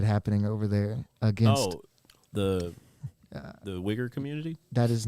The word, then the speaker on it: Uyghur: It's pronounced Uyghur. Uyghur. Uyghur. No. Stress the tone on the U and the G.